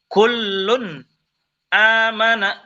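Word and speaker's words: كُلٌّ آمَنَ: pada kalimat kullun amana di sini tanwin bertemu langsung dengan huruf hamzah maka ini dinamakan bacaan izhar izhar itu artinya jelas jadi klun amana kullun amana kullun si tanwin ini tanwin ini dibacanya izhar jelas tidak samar tidak tak juga mendengung Kun amana Sama juga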